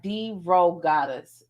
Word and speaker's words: DeRogatis: pronouncing his last name it sounds like d-ro goddess d-ro goddess okay that that makes